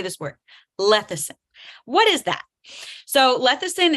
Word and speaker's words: lecithin: Lecithin. That's how you pronounce it. That's how you say that word out loud. Lecithin.